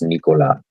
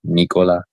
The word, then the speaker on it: Nikola: Well, I mean, I think that's how it's pronounced like in Eastern Europe.